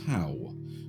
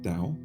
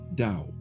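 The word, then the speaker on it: Tao: was to do with Tau which you mean Dao the the mystical uh philosophy that is spelled with a t but pronounced with a d Dao that's the entire movie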